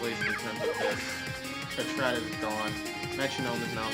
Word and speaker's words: Patrat: Well, it's pronounced Patrat, but okay.